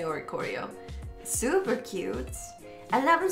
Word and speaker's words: Oricorio: And, ooh, looks like it's just non-holo rare Oricorio? Or is it possibly Orisorio? I don't know how that C is pronounced. I'm gonna say Oricorio.